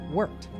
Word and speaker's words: worked: don't say Wicked but worked notice that the D in worked actually has a t sound here are other examples